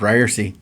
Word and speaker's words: Ryerse: Hey everybody, it's Ryerse. I'm back. Did you miss me? This is the It's Pronounced Ryerse podcast, and took a little bit